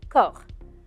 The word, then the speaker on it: corps: acteurs qu'on n'ose et un mot un peu bizarre il s'écrit avec la lettre c o r corps et se termine par deux lettres que je ne prononce pas avec le p et avec le s le s même si ces singuliers yaya